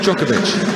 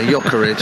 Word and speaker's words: Djokovic: Well, post-match we might ask Djokovic. Oh, sorry, no, yeah, sorry, yeah, Jokovic. I mean, it looks that way to me. That's how you spell it in Bristol. 2 minutes of added time. Come on, Sam. If you talk Bristolian, you'd have said Jokovic.